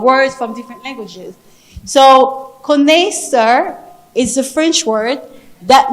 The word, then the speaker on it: connaisseur: The pronunciation of connaisseur is the Connaisseur, which is the French word.